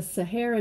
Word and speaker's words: Sahara: That desert, the Sahara Desert, say Sahara. Say Sahara. Sahara. It's almost like saguaro, right?